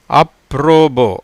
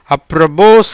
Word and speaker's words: apropos: இந்த எஸ்ஸுக்கு உச்சரிப்பு கிடையாது.